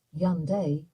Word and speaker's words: Hyundai: pronounce Hyandai in Korean Hyandai is pronounced as yandai in Korean wow that's different again